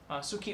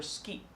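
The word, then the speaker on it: 好き: new verb in Japanese it's Suki or ski ski so you add ski with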